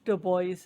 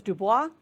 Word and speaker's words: Du Bois: Du Bois Museum. I always thought it was Dubois, but they say it Du Bois.